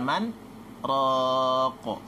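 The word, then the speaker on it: مَنْ رَاقٍ: Jadi bacanya waqila man raqo, berhenti sejenak tanpa nafas.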